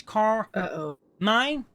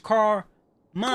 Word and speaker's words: Carmine: You know, I got if you say my name slow and you break it apart, it's car mine. I like to pronounce it as car mine.